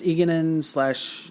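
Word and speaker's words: Egeanin: Eganin, is that how you pronounce her name? Yes, Eganin / Mistress Lewin.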